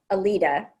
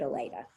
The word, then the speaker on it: Aleta: that's where they got it and some people pronounce it elita but i think because my parents considered it a greek origin they had they always pronounced it elena what a great name for a judge yeah